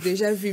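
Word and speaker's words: déjà vu: how you pronounce it it's deja vu because it's french but i'm used to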